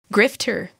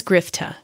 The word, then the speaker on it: grifter: In American, it's pronounced as grifter, grifter, grifter. In British English, it is pronounced as grifta, grifta, grifta.